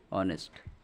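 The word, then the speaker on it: honest: অনেস্ট, এটা দেখো এটা এইচ দিয়ে যে ওয়ার্ডটা শুরু হচ্ছে, কিন্তু এটার যে উচ্চারণটা, প্রনাউন্সিয়েশনটা, এটা উ দিয়ে শুরু হয়।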